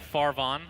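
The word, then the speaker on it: Farvhan: He's gonna TP out Farvan. Farvan. Is that how you say it? Farvan? I think it's Farvan. No, Farvan. Yeah, you're right. The ancient. It's like a van that is pretty far.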